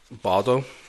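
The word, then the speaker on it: Baudo: I keep saying this name wrong. I use a random random generator. Random generator for most of these guys. So, I keep calling him Baldo, but it's no L. B A U D O B.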